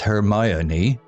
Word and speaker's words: Hermione: Her name, pronounced Hermione, was also a puzzle to newcomers.